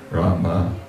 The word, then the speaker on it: Rama: Wymawiać. Tak, of course, people do say Hare Ramo. Oczywiście ludzie mówią Hare Ramo. Anyway, Rama.